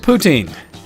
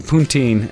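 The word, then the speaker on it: poutine: experience with poutin and I have to say it very specifically like that because when I was drinking last night and saying it wrong I was always saying ptin and that's not at all what it is essentially I don't know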